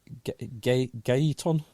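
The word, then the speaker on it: Gaëtan: He accelerates as how do you pronounce him? Gaeton.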